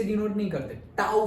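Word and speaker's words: τ: Torque को ऐसे टी से डिनोट नहीं करते, टाउ से करते हैं। उसको प्रोनाउंस क्या करते हैं?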